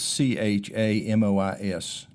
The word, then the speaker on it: chamois: You know, what is a a chamois and how do you spell it? It's c h a m o i s. Some people would say chamois.